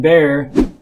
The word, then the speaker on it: Bear: I'm Bear, rhymes with care.